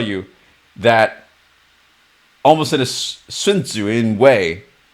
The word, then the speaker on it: Sun Tzu: A real wilderness expert will tell you that almost in a Sun Tzu way, perhaps the way that I pronounce it is different from most Westerners. In Chinese, you would say Sun Tzu, but in Western English,